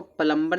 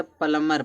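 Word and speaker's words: plumber: फिर यहां देखिए इसको प्लंबर नहीं पढ़ता। प्लंबर पढ़ते हैं। प्लंबर प्लंबर नहीं पढ़ा जाता। क्योंकि प्लंबर में बी क्या होता है? साइलेंट होता है ना लाल ठीक करने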